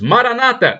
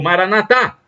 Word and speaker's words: Maranata: E do dialeto de Jesus, Maranata ou Maranatá. Os protestantes dizem Maranata, com a tônica na penúltima sílaba. Os católicos dizem Maranatá, com a tônica na última sílaba.